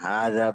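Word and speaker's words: هذا: Ya, hadza baitun dan seterusnya. Yang bahkan penulisan hadza pun, cara pengucapan hadza pun masih banyak yang salah. Hadza tuh, ha dengan za itu sama-sama panjangnya sama. Sama-sama 2 harokat.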